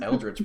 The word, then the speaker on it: eldritch: no no he said eldridge blast right i think so right aldrick spots are the h right i mean that's a weird way to pronounce eldritch blast sorry sorry um okay